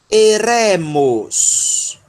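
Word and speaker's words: ἔρημος: Então, e, ré. E, ré. E no final, mi, ômicron, sigma, mos. Eremos. Eremos. Quem suspeita, vamos ver quem suspeita o que é o eremos.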